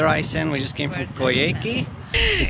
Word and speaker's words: Coyhaique: we just came from koyeki it sounds like it sounds like a bad pronunciation of karaoke oh yeah oh yeah